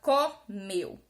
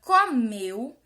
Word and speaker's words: comeu: essa resposta é que na palavra Chapéu a pronúncia do é é um som aberto na palavra comeu ué tem um som fechado comeu sapel certo aí